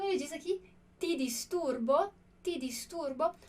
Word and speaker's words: ti disturbo: Olha que legal a pronúncia que a gente tem aqui do ti. Essa é a única pronúncia possível para o T em italiano. Então, cuidado para não falar ti disturbo. Por que eu não posso falar ti? Porque ti, esse ti, é o som do C, como a gente vê aqui na palavra ciao.